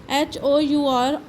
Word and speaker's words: hour: जैसे ऑनर है, ऑनर में एच साइलेंट हो जाता है, एच आर में HOUR और होता है घंटा, घंटे में भी एच साइलेंट हो जाता है, इसलिए इसकी आवाज़ थोड़ी सी इस तरह की निकलती है।